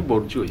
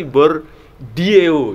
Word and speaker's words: Bourdieu: Bacanya Bourdieu ya.